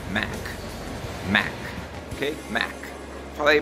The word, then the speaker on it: Mac: Em português a gente fala Mac. Algumas pessoas falam Mac, Mac, enfim. Mas a pronúncia em inglês é Mac.